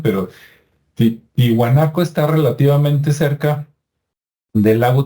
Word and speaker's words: Tiwanaku: Y también Tiwanaco, que me cuesta trabajo pronunciarlo porque también me acostumbré a decir Tiahuanaco, ¿no? Por el History Channel y el Discovery, que así le decían, pero Tiwanaku está relativamente cerca del